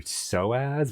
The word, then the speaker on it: Psoas: So is spelled P-S-O, and that's because it's targeted at your Soaz, which is P-S-O-A-S, which I literally changed my major in college to avoid anatomy and physiology.